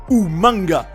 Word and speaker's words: Umaga: will be represented by Umaga, or rather Umanga as he calls it. And by the way, about that, Regal revealed that he called him Umanga for the spectators to remember him. And since it sounds like the word humongous, which means huge, I think it was a great idea.